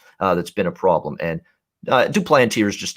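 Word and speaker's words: Jon Duplantier: Brett Anderson, Duplantier actually. He's not French. He's not French Canadian. So you got to pronounce it the English way. Duplantier.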